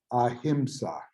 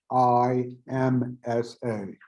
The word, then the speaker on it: Ahimsa: So, and this concept is the principle of Ahimsa, and that's spelled Ahimsa.